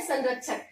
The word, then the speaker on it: संरक्षक: उसी तरह संरक्षक है, ठीक है, तो यहाँ पे हम बोल तो रहे हैं संरक्षक, लेकिन ये लिखेंगे नहीं, न यहाँ पर नहीं लिखेंगे, ये उच्चारण भले हम न कर रहे हैं लेकिन इसको बिंदु के रूप में ही लिखेंगे।